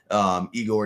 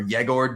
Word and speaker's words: Egor: Igor Demon or Yegor Demon, I believe is how he says it.